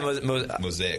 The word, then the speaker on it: Mosaic: Yeah, mosaic. If anybody was wondering, it's pronounced mosaic.